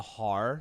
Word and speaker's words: Haar: They are what I can describe as like the experience of listening to this album, The Har, spelled capital Haar, is akin to listening to early Radiohead.